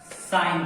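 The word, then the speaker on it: sine: SIN, बहुत लोग सिल पढ़ लेते हैं इसको, बट SIN साइन होता है।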